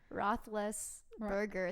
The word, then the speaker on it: Roethlisberger: Roethlisberger.